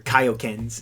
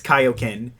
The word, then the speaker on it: Kaioken: one of the most iconic kokens but they're kaiokens it's supposed to pronounce kaioken uh the early double ibu it's supposed to be pronounced kaioken but it's got like one of the it's